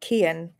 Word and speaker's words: Kian: Like Ian, except with a hard C at the start. Kian.